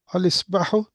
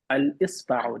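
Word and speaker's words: الإصبع: Al-Isbahu. You're literally pronouncing the alif. Al-Isba'u.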